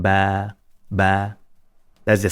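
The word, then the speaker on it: باء: This is called Ba. Ba'un, Ba. So you can see that I'm not saying Ba, Ba.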